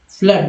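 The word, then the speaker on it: flood: फ्लड, double O है ना, FLWD, फ्लड, फ्लड यानी डबल ओ को आ उच्चारण करते हैं।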